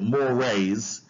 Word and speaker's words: mores: Now, mores, it's spelled mores, but we pronounce it mores.